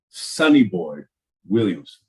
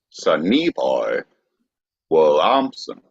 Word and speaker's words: Sonny Boy Williamson: Sonny Boy Williamson. Your emphasis was on the wrong syllable. Sonny Boy Williamson.